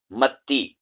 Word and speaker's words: متی: متی، میم تا زبر مت، تا یا زیر تی، متی. اس کو متی پڑھنا ہے، متا متا نہیں پڑھنا، ٹھیک ہے؟